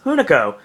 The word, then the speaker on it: Hunico: match Sin Cara was Hunico or Unicode depending on how you want to pronounce it pretty much zincara the